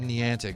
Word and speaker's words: Niantic: I say Niantic because it looks like it's Japanese, even though it's not.